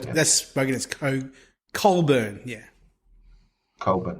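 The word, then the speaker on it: Cockburn: k b u r n e yeah so that's spelled that's spoken as Co curn yeah curn it's spel it's pronounced cin but it's spelled all right so uh the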